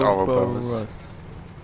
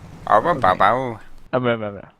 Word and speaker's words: Ouroboros: I think it's just pronounced Ouroboros. Ouroboros.